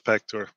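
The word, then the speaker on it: PACTOR: ready or pack tour i'm gonna guess back to her but i'm not sure yep it's pector which are the following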